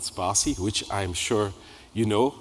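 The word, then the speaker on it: Spatie: should pronounce it is with the word spa and then C and then you have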